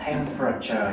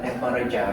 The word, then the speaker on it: temperature: Mình đọc là temperature nha, không phải là temperature đâu nha. Ba âm thôi.